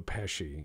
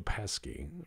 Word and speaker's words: Pesci: uh you know like instead of uh Joe Joe Pesci you could be like Joe pesky pronounce it with a hard C the other one is